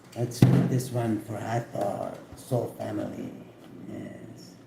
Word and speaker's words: Hathor: Hathor, pronounced Hathor, is a goddess of light, joy, and gratitude.